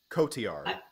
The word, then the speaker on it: Cotillard: Cotillard.